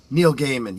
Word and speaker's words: Gaiman: Neil Gaiman, yeah, exactly. And you pronounce it correctly.